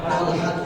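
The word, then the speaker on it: طلحة: অনুরূপ ভাবে শেষে গোলতা কখনো মুযাক্কার হতে পারে, যেমন তলহা, তলহার শেষে তলহাতু, আরবি উচ্চারণ হলো তলহাতু, শেষে একটা গোলতা আছে, তো তলহা মুয়ান্নাস, ঠিক না?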